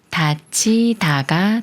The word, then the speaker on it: 닫히다: 들어가면서 다이다라 말이 되는데요 먼저 다의 의소리를 합해서 다이라고 읽고 여기 디귿 받침과 히가 만나면 치가 되면서 다치 다가 돼요 다치다 예문을 읽어 볼게요